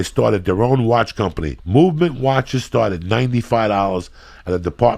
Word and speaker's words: MVMT: MVMT watches, pronounced the Movement Jack, was founded on